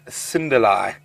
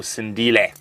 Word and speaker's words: Cindile: That's young Cinderlai, or Cindile, with the correct pronunciation.